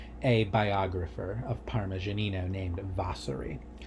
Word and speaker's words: Vasari: All right, so he's quoting a biographer of Parmigianino named Vasari. Vasari, or Vasari, I've never known how to pronounce that. I think it's Vasari, actually.